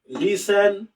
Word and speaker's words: listen: উচ্চারণ দেখেন, LISTEN, লিসেন, টি কিন্তু সাইলেন্ট থাকবে, টি কিন্তু অলওয়েজ সাইলেন্ট।